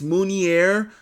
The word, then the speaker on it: Mounier: It's Mounier, but I gotta believe it's the E and R are silent, or even the R is silent. Mounier.